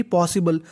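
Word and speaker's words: possible: में लिखा है BLE, अगर आपको कहीं पर BLE लिखा मिले तो उसे पढ़ना होता है बल। क्या पढ़ना है, बल, और S दो बार है, उच्चारण एक बार करना है, तो मीनिंग बन गई पॉसिबल।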